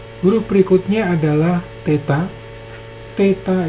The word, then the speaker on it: theta: Theta ini adalah TH, jadi dua konsonan jadi satu, theta.